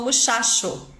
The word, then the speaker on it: muchacho: hoje aqui na live em algumas regiões do Chile também o dígrafo ch o t é pronunciado igual ao português então por exemplo eles não dizem otcho eles dizem oxo Eles não falam muchacho eles falam muchacho isso em algumas regiões